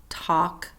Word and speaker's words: talk: those lamb de SLE silent L talk should salmon we're not hearing the L in those words silent s debris or